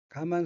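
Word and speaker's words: 我慢: 거만할 만자로 되어 있으며 일본어로는 가만이라고 발음하고 왼편 아래에 보라색 의된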